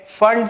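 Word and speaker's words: Pfund: फिर आता है Brackett series end फंड series. P silent है.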